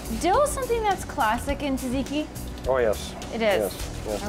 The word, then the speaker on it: tzatziki: Up next on the menu, we are making calamari with tzatziki sauce. Now, Kate, Chef Bob, I'm gonna let you say tzatziki because I don't say it right.